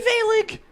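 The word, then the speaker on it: Vaelig: me veiling what what they call me velik can't you spell that v-a-e-l-i-g hi bailey yeah yeah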